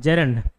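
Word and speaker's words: gerund: हाँ जेरेंड, मैं अभी तक गेरेंड बोलते आता था, आपको क्या बोलना है? जेरेंड, जेरेंड, ठीक है। जेरेंड बोलो या गेरेंड बोलो या अपने इच्छा अनुसार, ठीक।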